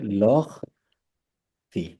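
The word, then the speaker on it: leurs filles: ওকে আর वो তাদের फी মেয়েগুলো ধরেন, এটা হচ্ছে তাদের মেয়েগুলো, তখন হবে লখ ফি। এস এর উচ্চারণ নাই। एस লখ ফি।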